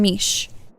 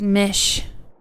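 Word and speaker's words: Mische: Meech from the super wings of night is pronounced as Mish with a short I.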